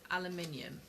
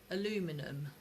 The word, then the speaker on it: aluminium: say the word aluminium so they spell it a l u m i n u m aluminum is a different bloody word aluminum aluminium yeah so if you put if you put that word like that spelt like that you say it like that you got your point